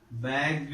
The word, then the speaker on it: bagged: Bagged is the past tense. So how is it pronounced here? It is pronounced as bagged. This ed is pronounced as do here.